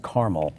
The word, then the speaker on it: Carmel: I grew up in a small town called Carmel, New York, upstate New York. Oh, I've heard of that. Carmel? And Carmel, it's pronounced Carmel.